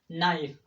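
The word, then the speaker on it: knife: जिस तरह के नाइफ का नाइफ तो हम नहीं बोलते ना, नाइफ, नो, के बाद एन है इसलिए के को प्रोनाउंस नहीं किया जाएगा।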